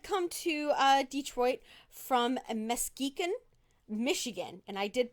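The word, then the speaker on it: Muskegon: now hood had come to uh detroit from mesquican michigan and i did pronounce that right that northern michigan town yes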